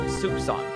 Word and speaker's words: soupçon: And I actually was pronouncing it right. Soupçon.